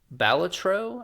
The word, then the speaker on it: Balatro: a PlayStation exclusive uh ballator balatro I'm pretty sure is what it's how it's pronounced it is a poker